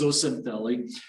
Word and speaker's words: zooxanthellae: so i know that's a mouthful so it's pronounced zocintheli and this is if we sort of give